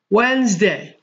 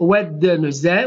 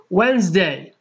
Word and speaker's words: Wednesday: إذن Sunday الأحد، Monday الاثنين، Tuesday الثلاثاء، Wednesday الأربعاء. لاحظوا معي هنا إخواني، لا ننطق هذا الحرف، حرف د دي هكذا يسمى حرف صامت، silent D، a silent consonant. إذن Wednesday، لا نقول Wednesday ولكن نقول Wednesday الأربعاء، Thursday الخميس، Friday الجمعة، Saturday السبت.